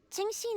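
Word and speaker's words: Qingxin: I wrote this one Ching Sheen is the right answer also I did not know that's how you pronounced that chingen okay Shin got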